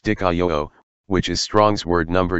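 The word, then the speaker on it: δικαιόω: whom he named, he also did this, Dikaio, pronounced Dikaio, which is Strong's word number G1344, and means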